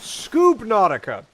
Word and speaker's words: Subnautica: Subnautica is the correct pronunciation of that name.